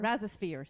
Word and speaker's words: Rhizosphere: Rhizosphere, sorry. Not a spore.